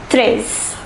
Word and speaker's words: treize: The number 13 is pronounced treize. Treize.